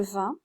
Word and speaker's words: vingt: Donc ici, nous allons attaquer le 20. Donc, vous voyez, ça s'écrit 20, V-I-N-G-T, mais en réalité, ça se prononce 20, comme le vin français, vous savez, le vin qu'on boit, la boisson.